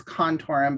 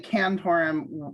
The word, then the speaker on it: Cantorum: People say it differently. It's both Contorum. The official name is Contorum, but we're not that snooty. And so when people say Cantorum, that's okay too.